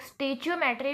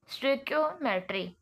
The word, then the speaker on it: stoichiometry: stick मेट्री ठीक है इसको कुछ लोग स्टेच मेट्री भी प्रोनाउंस करते हैं लेकिन इसकी वैलिड प्रोनंसिएशन है स्ट्रिक मेट्री ठीक है स्कोमेट से